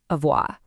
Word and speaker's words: avoir: Let's get the pronunciation down first. Avoa.